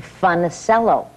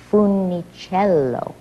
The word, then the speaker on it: Funicello: We mispronounced it. We Americanized it to Funicello. And Mr. Disney said, not only may you not change your name, but you're not pronouncing it correctly. It's Funicello.